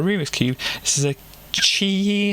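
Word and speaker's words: QiYi: cube this is a chi i think is the way to pronounce it q-i-y-i i've seen various other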